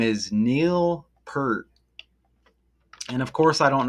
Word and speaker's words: Peart: Neil Pier.